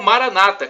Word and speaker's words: Maranata: dizemos nós católicos, ou Maranata, com a tônica na penúltima sílaba, como dizem os nossos irmãos separados, os evangélicos ou protestantes.